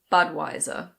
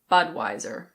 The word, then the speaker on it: Budweiser: In British English this is pronounced Budweiser. Budweiser. In American English you pronounce the R, so it's Budweiser.